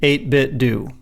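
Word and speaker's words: 8BitDo: emailed them once and I was told it's pronounced 8bit do and really but then I had and I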